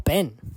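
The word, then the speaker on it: בן: And then the word for son is Ban or Ben in other pronunciation, which is Beit Nun or Beit Nun Sofit, right?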